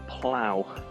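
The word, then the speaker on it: plough: and do pronounced differently this is plow as in ow that hurts so snowplow difficult spelling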